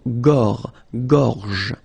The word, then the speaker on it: gorge: Okay, remember when you've got this combination G and O, you get the sound go, go. Okay, so gorge. And then G and E gives J.